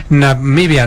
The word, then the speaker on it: Namibia: ahí también en namibia se pronuncia namibia no como lo pronuncia el presidente de eeuu y tenemos que aprender